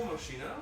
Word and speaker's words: Moschino: It was Moschino with leopard print trim. Was that actual Moschino?